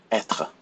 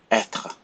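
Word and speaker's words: être: this is how you pronounce a pronounce a pronounce it Etra Etta and it has a little hat we call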